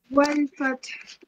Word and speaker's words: وَالْفَتْحِ: إِذَا جَاءَ نَصْرُ اللَّهِ وَالْفَتْحِ إِذَا جَاءَ نَصْرُ اللَّهِ وَالْفَتْحِ No, bachche. Ha sound at the end. وَالْفَتْحِ وَالْفَتْحِ Yeah, again.